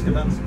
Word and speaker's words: Gdańsk: How do you pronounce Gdańsk?